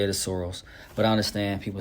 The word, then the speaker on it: Sorrells: So, some people say surreals, some say soros. Proper way to say it is soros, but I understand people say surreals.